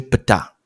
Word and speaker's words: Ptah: l'émanation du Grand Dieu PETA donc quand je dis PETA ça s'écrit Ptah PT a le narratif va sur